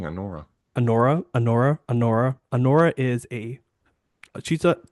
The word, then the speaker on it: Anora: but yeah, so she plays Alora and Alora, I'm gonna say her name wrong every time, Just, team. it's right on the fucking thing, Anora.